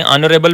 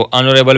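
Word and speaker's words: honorable: अब देखें ऑनरेबल में जो एच होता है वो साइलेंट होता है। तो हज़ father is एन ऑनरेबल citizen. उसके वालिद साहब एक बाइज्जत और मौजज़ शहरी हैं। तो अनरेबल में एच साइलेंट होने की वजह से ओ सामने आ जाता है और यह वोवेल साउंड पैदा करता है और वोवेल साउंड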